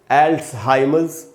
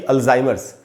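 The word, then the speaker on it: Alzheimer's: तो दोस्तों, इसको हमको पढ़ना चाहिए एल्ट्सहाइमर्स, न कि अल्जाइमर्स। तो हम, और डिजीज़ वर्ड DISEASE, डिजीज़ का मतलब है बीमारी। तो एल्ट्सहाइमर्स डिजीज़ ऐसे ही एक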